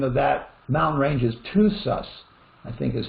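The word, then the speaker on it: Tusas: the correct pronunciation of that mountain range is to sus i think is how he is what he's trying to say t-o-o apostrophe s-u-s two sus uh uh we're getting close to the end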